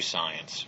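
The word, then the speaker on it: Psience: week critically acclaimed alternative science writer Marie Jones comes to the program to discuss her book science you may have heard of this one it's spelled with a p p-s-i-e-n-c-e we're going to be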